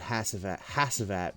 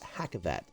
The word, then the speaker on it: Hackavat: Hackavat, sorry, I said Hassavat because I heard somebody else call him that, but it's pronounced Hackavat. I learned that from Tabor Hill, so shout out to Tabor Hill.